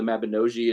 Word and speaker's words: Mabinogi: based on the mabinosian Welsh mythology or the Mabinogi is Dave The Bard this told me is the correct pronunciation but so there's like this really kind